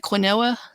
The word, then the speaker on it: quinoa: you may not get the pronunciation on it it's spelled q-u-i-n-o-a looks like quinoa right it's pronounced quinoa and everyone most people